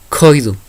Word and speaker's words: Koidu: sacamos al mismo tiempo para poder pronunciarla, para poder emitir el siguiente sonido. Koidu. ¿Qué quiere decir? Acomodar. Hay que sacar ese aire con la K. Koidu.